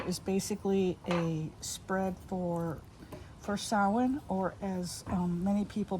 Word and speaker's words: Samhain: So what I'm going to do in here is basically a spread for Samhain, or as many people mispronounce it, Samhain, which is the pagan observance that Halloween is based upon.